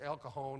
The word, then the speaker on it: El Cajon: and and San Josie she said out here we pronounced that J like an H it's El Cajon in San Jose how long are you